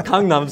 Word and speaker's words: Gangnam: The correct pronunciation is Gangnam style, but Gangnam style.